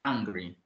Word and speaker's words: angry: Nunca vamos a decir angry. So angry is the correct pronunciation.